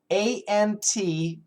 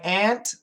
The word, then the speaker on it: aunt: So for most Americans, it's the same. My aunt loves to eat ants. Ant, sounds the same. Now, A-U-N-T, sometimes you will hear some Americans say aunt. My aunt loves to eat ants. So you could hear a difference.